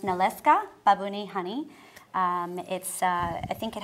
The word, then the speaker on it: Nalewka: It's pronounced Nalewka, Babuni honey.